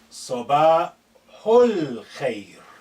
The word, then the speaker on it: Sabahul khair: Note this al khair, because this alif is not at the beginning, is been suppressed in terms of pronunciation. It's silent, it's not said.